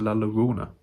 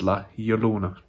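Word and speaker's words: La Llorona: the curse of lyuona pronounce it better people it's not the curse of la laguna it's la yolona it's a y she has lola for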